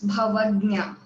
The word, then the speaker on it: Bhavagnya: It's pronounced as Bhavagnya. Although there is letter Z, it's pronounced as letter G.